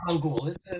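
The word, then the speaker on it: 한글: Published today in 1446 in this country is a document explaining the use and pronunciation of the Hangul alphabet. Name that country. How do you say Hangul? Oh, Hangul.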